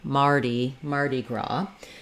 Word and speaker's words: Mardi Gras: to remember March and Mardi Gras. The S is silent, and the letter I says the E sound, so it's actually very similar to how we say the man's name Marty, in that we use